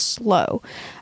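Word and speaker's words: Sloo: the slow family but it's spelled s-l-o-o but it's pronounced slow and they were from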